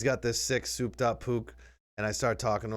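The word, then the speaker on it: Puch: P-U-C-H. Oh, like a pooch. Yeah. Pook. That's how you say it? I think it was pooch. It's actually Pook.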